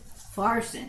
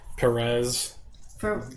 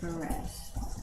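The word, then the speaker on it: Peres: different pronunciations of Parson Farson Farson uh p is an F Perez yeah Perez um Perez p is pronounced like an F so lots of different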